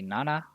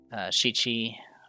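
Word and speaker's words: 七: In most cases, when you're using 7, you usually use the Konyomi pronunciation because Shichi has some associations, I believe, with death or something, so you usually don't want to create confusion.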